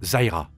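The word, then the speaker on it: Zyra: bien sûr il reste zaïra ou Zirah comme vous voulez pour la prononciation c'est un être assez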